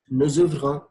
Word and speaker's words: nous ouvrons: Because there is a liaison between nous and ouvrons, which is pronounced as nous ouvrons.